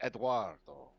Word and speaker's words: Eduardo: high seas with Eduardo which is the proper way to pronounce his name is Eduardo yeah sailing the high seas